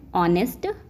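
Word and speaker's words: honest: आ जाएगा एन आएगा ऑनेस्ट ही इज एन ऑनेस्ट मैन क्योंकि यहां पे ए इ आई ओ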